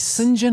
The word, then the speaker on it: St. John: Singen Hawk. I didn't. It's written as St. John Hawk. Well, yeah, but that's how they pronounced it.